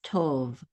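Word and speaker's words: טוֹב: This is a tet with a cholam vav. This says to. And then a vet closes the syllable out. So this is tov.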